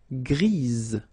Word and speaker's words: grise: Gris, don't pronounce the S, but then for the feminine form, grise. Remember?